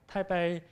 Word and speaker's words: Taipei: Taipei, P-E-I-P-E is the Chinese pronunciation of this Chinese word, and which means that Taipei is located at the North Taiwan.